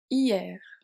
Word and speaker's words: hier: hier pronounced hier, je suis allé au cinéma hier je suis allée au cinéma hier ici.